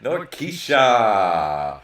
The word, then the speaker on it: Norkeisha: Norkeisha! I said it right.